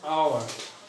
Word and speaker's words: hour: The pronunciation of this word is hour. And H is unpronounced here.